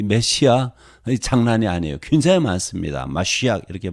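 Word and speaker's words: מָשִׁיחַ: 마시악 이렇게 발음하는데 뭐 다 여기 들 수가 없어요.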